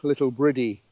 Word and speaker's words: Littlebredy: joining us now today we're at the little village of little breedy in Dorset although I believe some locals pronounce it little britty and it's located about